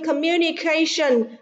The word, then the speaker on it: communication: À, vì communication, trọng âm rơi vào âm tiết thứ 4, còn lại thì trọng âm rơi vào âm tiết thứ 3.